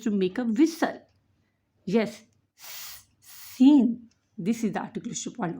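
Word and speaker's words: شين: Yes, Shin. This is the articulation point of Shin. And for Shin is pronounced from the middle of the tongue.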